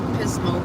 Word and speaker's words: Pismo: remembered Pismo Beach. Oh. That's right. Pismo rhymes with gizmo, and it's right there on the beach.